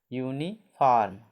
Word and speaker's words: uniform: ठीक, तो इसका उच्चारण क्या हो जाए? यू। तो UNIFORM, यूनिफॉर्म, इसको क्या बोलेंगे? यूनिफॉर्म, यूनिफॉर्म। ठीक, यूनिफॉर्म मतलब वर्दी, जिसको कहते हैं वर्दी, पोशाक।